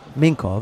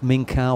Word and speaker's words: Minkov: And the only reason that I knew that it was Minkov and not Minkau or Minku or whatever it was